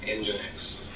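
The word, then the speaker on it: nginx: a short name and engine X which is NG I INX but pronounced engine X and those were the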